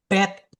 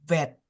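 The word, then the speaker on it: ב: Kalau dia ada titik pasti dia dibaca tegas. Dibacanya kalau kita ngomong orang Surabaya itu medok. Tegas. Tegas. Bet. Bet bet. Sementara kalau dia tanpa titik dia bacanya adalah wet. Wet wet seperti itu.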